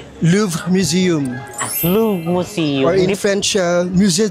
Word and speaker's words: Louvre: Ano po ba yung tamang pronunciation? LV Museum. Louv Museum or in French Muse LV.